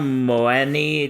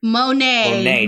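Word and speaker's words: Monáe: Janelle Moni. Did I pronounce that right? Monet.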